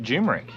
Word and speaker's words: Dumaresq: We have arrived at Dumaresq, and that is how it's pronounced.